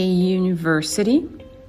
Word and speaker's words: university: Donc, par exemple, si je dis a book, a car, a teacher, a university.